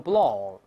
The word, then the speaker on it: Blanc: 意思 Mont Blanc，后面这个不能读成 blank，按法文读成 Blanc，就勃朗峰